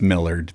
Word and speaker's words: Millard: How do you pronounce Millard? Technically, it's Millard, but okay.